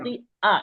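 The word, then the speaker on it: خَاطِئَة: কিন্তু খতিয়া। খতি আ, এটা ইয়া উচ্চারণ করা যাবে না, এখানে হামজাটা উচ্চারণ করতে হবে, এই জন্য খতি আ।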